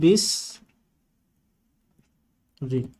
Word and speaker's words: বৃষ্টি: বৃষ্টি শব্দের উচ্চারণ হবে বিস রি, এভাবে বৃষ্টি এবং শ্রী, এই সবগুলোর উচ্চারণে এই নিয়মটা প্রবর্তিত বা ব্যবহৃত হবে।